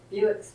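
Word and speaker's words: Bewick: My poem is about the Buick's friend. Song pronounced Buick.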